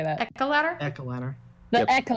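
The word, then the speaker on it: Echeladder: That Ozian says it should be pronounced Esha ladder. No. No. You're, Esh. this is Esha- this is aesthetic. this is one place where I'm actually correct. It is Echo ladder.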